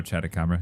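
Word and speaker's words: Chatacabra: There's a silver crown catabara or catabra or what? Oh, chatabra. Yeah. Yeah. Yeah. Chatabra sounds like face cat.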